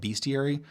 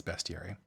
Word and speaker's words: bestiary: bestiary or best here i always call it bestiary i'm told that i've been pronouncing that wrong my entire life and it's bestiary creatures of a far